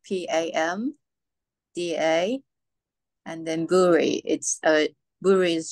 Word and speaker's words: Pamda: It's PAMDA, PAMDA, and then Buri.